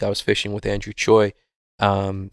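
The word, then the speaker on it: Tsui: was fishing with andrew choi um his name is actually spelled t-s-u-i but it's spelled choi um and he was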